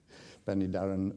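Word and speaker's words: Penydarren: on the pen adhara Pandey Darrin heard you pronounce he Jim penny Darrin yeah penny Darrin locomotive and that is the penny Darrin I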